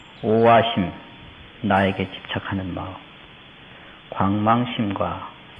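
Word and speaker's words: 惡: 악하다 이러면 악 그래야 되지만 나쁘다 이러면 오 이렇게 발음을 해야지 호 다른 사람의 좋고 나쁜 것을 말하지 아니하는 것이 시차귀의이니라.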